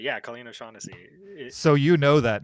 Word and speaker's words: O'Shaughnessy: Did I pronounce it right? That's right. Yeah, Colleen O'Shaughnessy.